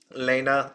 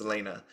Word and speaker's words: Elena: with Lena on it Lena Lena I keep saying her name wrong it's Elena uh with Lena on